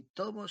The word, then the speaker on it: tobos: La I de deslizosos es como la I de amistosos, y tobos se pronuncia de manera que rime con lodos.